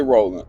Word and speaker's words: Roland: And I always got to say Roland. I said I'mma start saying my name like this, Roland, just to seem foreign. It's spelled R O L A N D.